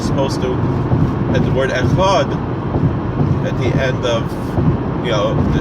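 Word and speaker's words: אחד: There is no dot in the Dalet, so it's not Echad. It's Echad, and you're really supposed to extend the Dalet.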